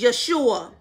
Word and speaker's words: Yeshua: There's a time now that many people are looking to the Hebrew pronunciation of Jesus, and it is Yeshua.